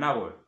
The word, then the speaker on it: hour: An hour, an hour, an hour, an hour qui s'écrit H-O-U-R, le H ici n'est pas prononcé.